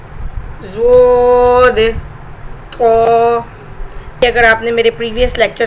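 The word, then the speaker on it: ض: इस तरह से आप बच्चे को बताएंगे, side as of tongue when touching upper molars, this is pronounce ज़ोद।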